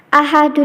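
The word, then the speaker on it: أحد: Nah, cara membacanya harus dipantulkan dengan pantulan yang kuat.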